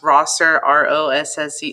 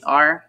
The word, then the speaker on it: Rosser: It's pronounced Rosser, Rosser, and I'm a photography teacher at LQ.